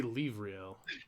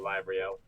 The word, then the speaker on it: Lavriel: I was gonna say Livriel. I was thinking of similar. I Yeah. think I was thinking like Lavriel or something. I'm going with the more Germanic pronunciation, so Lavriel.